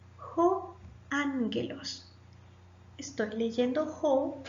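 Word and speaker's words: ἄγγελος: Ho ángelos, el ángel. Recuerde que cuando hay dos gamma, la primera gamma suena como una N. Ho ángelos.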